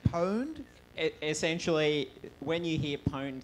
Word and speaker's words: pwned: here we go ah now how do you pronounce that PW any D word owned at least they agree I didn't know how